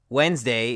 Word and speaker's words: Wednesday: D is not pronounced Wednesday is just a weird word altogether which should be pronounced wetness day and sometimes we make